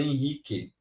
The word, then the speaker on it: Henrique: som igual a palavra Henrique a palavra Henrique é com h só que você pronuncia Henrique com H ou sem h continua sendo Henrique porque o h não flui nem contribui na pronúncia o H só tem